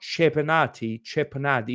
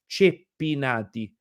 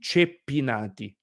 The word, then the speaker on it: Ceppinati: But for example, this last name is not Cepinati is Ceppinati. You need to hear the double P, Ceppinati, okay?